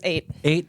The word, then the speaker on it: eyot: And they camp for the night on this little Ayote. How did your boy pronounce it in the book? 8. It's 8. Eyot.